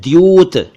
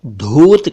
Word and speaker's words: द्यूत: कई लोग इसे धूत कहते हैं, धूत या ध्यूत, जो कि गलत है। सही उच्चारण मैंने बता दिया, द्यूत क्रीड़ा।